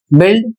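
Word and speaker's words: build: तो जैसे यहां पर फिलर की तरह आया है शब्द तो बिल्ड और बिस्किट इसकी स्पेलिंग है बी यू आई एल डी बिल्ड earth banana.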